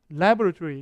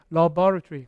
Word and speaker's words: laboratory: 알고 있는 여러분 발음은 laboratory 이게 앞에 강세가 있어요 실험실 이게 미국식이 영국식이 이게 발음이 laboratory 강사 뒤에 있는데이 사람처럼